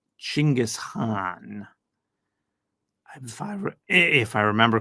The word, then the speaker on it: Chinggis: My favorite song is Genghis Khan, which they pronounce Chinggis Khan. Chinggis Khan. They pronounce Chinggis Khan. So if you want to look that up, it's spelled Chinggis with a CH.